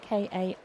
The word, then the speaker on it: Karan: Now, I say Karen, but Karen's name is spelt with an A, K-A-R-A-N, so I guess it's Karan. Good defense.